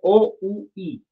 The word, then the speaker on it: oui: Pero oui se escribe O-U-I.